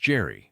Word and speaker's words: Gerry: The grandfather was Elbridge Gerry, who served as the 5th Vice President of the United States, under James Madison. The family name was pronounced with a hard G, like the actor Richard Gere.